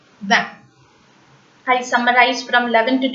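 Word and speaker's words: vingt: So after the vowel sound, after the nasal sound, the last consonants remain the silent. So van. GT remains silent. So 20 is called as van.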